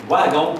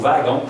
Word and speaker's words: wagon: Wagon ou wagon, c'est bon. Là, ça commence par W. Oui, ça se prononce V.